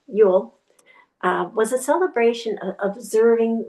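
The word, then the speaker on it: Jól: Yol J O L um which we pronounce Yule uh was a celebration observing winter solstice and the rebirth of the sun.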